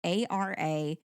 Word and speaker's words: Araminta: She was, I believe her original name is pronounced, it's Araminta. I believe it's Araminta.